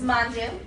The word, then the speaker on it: Mandu: This is Mandu, rhymes with fondue.